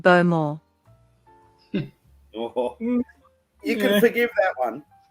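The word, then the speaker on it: Bowmore: cue ball just said beau moore you can forgive that one you can forgive that one because you're not really supposed to pronounce the w basically actually she did um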